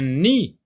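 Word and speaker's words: nid: Et il y a une lettre muette, bien sûr, la lettre D, qui ne se prononce pas.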